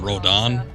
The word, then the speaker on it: Rodin: Never understood why his name is spelled Rodin. Maybe even Rodin, if we're going for Japanese and fluctuations. But they keep calling him Rodon. I don't see an A in there.